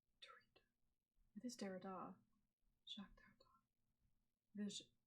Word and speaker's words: Derrida: It came in the pages of the New Musical Express in the 1980s, where Derrida's name would be mentioned by the most exciting writers, and actually part of my frustration with Derrida's work came out of disappointment.